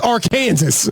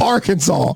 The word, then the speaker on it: Arkansas: First of all, if you if you read it phonetically, it's our Kansas. So, I don't even like the way y'all pronounce the word. So, y'all can keep Arkansas.